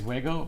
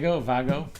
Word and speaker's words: Wago: so I don't even, I think it's Wago, but I'm not really sure. So I'll have to look that one up. Great Scott talks about the Wago connectors a lot. And yeah, go check out his videos if you haven't. I'm sure you've already seen those videos, but Vago. I know in German you pronounce the WV.